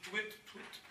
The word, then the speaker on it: Touit-Touit: nom du club donc le tweet Tweet et ça s'écrit t o u t très Union to t